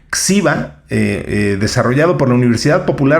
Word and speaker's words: GXIBA: El satélite se llama Xiba 1. Espero estarlo pronunciando bien porque se escribe con una G al principio. Es GXIBA. Xiba, desarrollado por la Universidad Popular Autónoma del Estado de Puebla, la UPAEP.